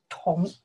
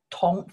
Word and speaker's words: 同: The first one, we pronounce the tong. You can see the character here. This character, we pronounce the tong.